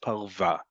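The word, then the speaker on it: פרווה: Okay, the word for fur, it happens to be spelled the same way, parva, and it's pronounced parva, is fur.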